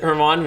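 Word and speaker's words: Germán: Because that's how you spell it. Yeah. But then you pronounce it Herman, which is hilarious.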